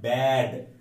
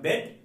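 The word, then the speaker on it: bad: idea is নট ব্যাড আমি যদি বলি your idea is নট বেড বেড বেড মানে ওইটা ওইটা বিছানা সো একটা হচ্ছে বি ই ডি এটার উচ্চারণ হচ্ছে বেড বিছানা আরেকটা হচ্ছে বি এ ডি এটার উচ্চারণ হচ্ছে এ টাকে জোরে টানতে হবে ব্যাড ব্যাড হি ইজ এ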